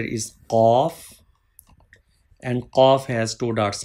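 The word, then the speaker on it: قاف: Please read with thick sound, heavy sound.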